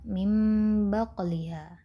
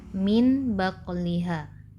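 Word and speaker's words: مِنْ بَقْلِهَا: Nah, nun sukun yang bertemu dengan huruf ba ini di sini contohnya pada kalimat mim baqliha. Nah, secara nyatanya awalnya sebelum mendapatkan hukum ikhlaq kita membacanya min baqliha, betul tidak?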